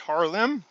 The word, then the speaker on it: Haarlem: Excuse me, from its headquarters in Amsterdam to a safe in the nearby city of, I believe it's pronounced Haarlem, just like Harlem, in a meticulously and closely guarded operation that ended Saturday, the bank said in a statement.